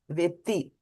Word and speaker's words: वेत्ति: Janma Karma Cha Me Divyam Evam Me Divyam Evam Yo Vetti Right, there's a double Ta. Vetti Evam Yo Vetti Tatvatah Tyaktva Deham Punar Janma Naiti Mameti So Arjuna All right, we found the document.